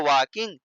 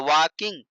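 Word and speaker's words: walking: आई एनजी लगाएंगे तो वकिंग टहलना का होता है क्या वक तो वाकिंग वाकिंग नहीं पढ़ना है वकिंग पढ़ना है इसका सही उच्चारण होता है वकिंग तो आई एम वकिंग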